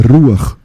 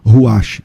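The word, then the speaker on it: רוח: Mas qual é a pronúncia correta? A pronúncia correta é Ruach, e não Ruach. Olha a diferença.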